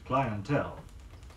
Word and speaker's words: clientele: here's the practice sentence he had an excellent clientele yet an excellent clientele another pair of words